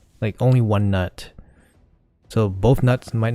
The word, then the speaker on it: Gnut: Just call him Nut. The G is silent. Come on guys. We all know the G is silent.